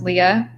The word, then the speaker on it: Leah: Okay, she said it's pronounced Leah. By the way, I know it's spelled the wrong way because everyone pronounces Leah.